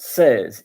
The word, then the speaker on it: seize: Then of course there is sees which is pronounced says in in French.